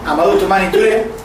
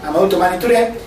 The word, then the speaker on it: Amadou Toumani Touré: Pero bueno, entonces, Amadou Toumani Touré, vamos a pronunciarlo bien, en respeto a los compañeros, Amadou Toumani Touré, bueno, ¿cómo se llama? A los compañeros de Mali, Amadou Toumani Touré, fue el presidente de 1991 al 92.